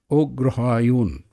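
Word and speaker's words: অগ্রহায়ণ: Another name for Mrigashiras is Agrahayana. And the Bengalis pronounce it as Ograhayun. Pardon my Bengali pronunciation, where the Tamils have taken Kritika and call it Kartigai Masam.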